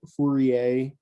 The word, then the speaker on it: Fourier: going to be called fourier coefficients and i can write it out so fu re a it's how you pronounce his name he's french hopefully it's close enough but it's fourier this is the name